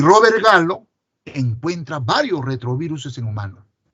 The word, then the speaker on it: Gallo: Y el hallazgo de este virus, hecho por el virólogo francés Robert Gallo, se escribe pero se lee Gallo, fue todo un boom, porque no habíamos descubierto retroviruses en humanos.